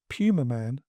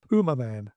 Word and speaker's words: Pumaman: Pleasence, throughout the movie, pronounces it Pumaman, which is the correct pronunciation, of course, whereas his American co-stars all say Pumaman.